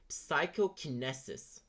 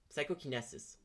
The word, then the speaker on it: psychokinesis: Psychoinesis. Psychokinesis.